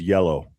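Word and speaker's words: hielo: Look out for the word if he says yellow. Yellow. Not like like with a Y. It's spelled with an H. Yellow is ice in Spanish.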